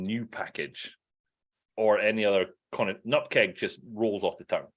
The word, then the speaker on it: nupkg: So I personally pronounce this word, because it is a word. It's not 5 letters. It's a word. I pronounce it as nutkeg, because in my head,